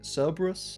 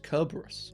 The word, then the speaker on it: Cerberus: But yeah, C's, always pronounced as hard Ks, and it does change quite a bit some of the names we all might be used to.